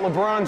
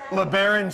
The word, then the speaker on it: LeBron: Well, what do you think about the LeBron James? LeBron... Huh? Or as I said on 96 Rock one time what was that? In the morning, I said... LeBaron James.